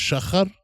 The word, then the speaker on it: Shahar: Shahar Hassan. But it's pronounced Shachar?